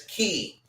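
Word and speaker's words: cay: or k okay so in the Bahamas they pronounce it as key so it's Castaway Key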